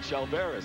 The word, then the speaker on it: Chalveris: Matt, if you like him so much, how come you don't pronounce his name right, Chalveris? That's the way it's pronounced.